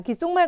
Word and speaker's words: 귓속말: 대기 현상 이렇게 자 귓속말 같은 경우에는 역시나 앞에 오는 시옷이 발음될 수 없어서 디귿으로 바뀌는 음절의 끝소리 규칙 그리고 그 디귿 영향을 받아서 뒤에 오는 시옷이 쌍 시옷으로 발음되는 된소리 되기 현상 그리고 뒤에 오는 미음에 영향을 받아서 앞에 오는 기억이 이응이 되는 비음화까지 일어나게 됩니다 그다음에 습득물은 앞에 오는